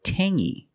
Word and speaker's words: tangy: clingy or this word Tangy we have the same sound it's the nasal sound only um Tangy it's not Tangy it's Tangy Tangy is a flavor